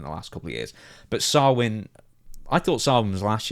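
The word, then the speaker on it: Samhain: this one out NWA I know it says sanhan but it's actually pronounced swin and I believe I any NWA show should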